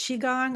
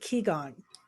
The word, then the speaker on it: qigong: wrong I think is is it correct to say is it chi gong or is it ki gong it's both it depends on which country thoroughly saying you're wrong